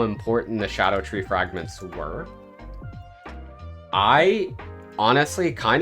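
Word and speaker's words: Scadutree: Scadu, so it's not Scadu Tree.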